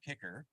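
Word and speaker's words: KICKR: device called a wahoo kicker and because athletes can't spell it's K I C KR um we live out the E because you're putting in the effort I guess I don't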